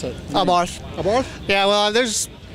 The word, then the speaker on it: Abarth: Abarth. Abarth? Yeah, well, there's, in the U.S., some people, you know, they call it Abarth and Abarth and all that, but I think the Italians actually pronounce it Abarth.